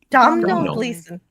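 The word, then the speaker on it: Domhnall Gleeson: Donald Gleason. Yeah, it seems like he pronounces it like Don like regular Donald, but it it is Don Donhold Gleason, but he pronounces it like Donald.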